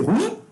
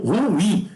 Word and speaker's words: ruim: Pode ser ruim? Pode, mas as duas estão corretas, tá? Tanto ruim como ruim, tá?